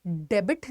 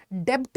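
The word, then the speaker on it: debt: इसको हम क्या बोलेंगे डेबिट नहीं डेट नहीं डेट ठीक है तो इसका प्रनंसीएशन आपको सही रखना है बहुत ही मैंने देखा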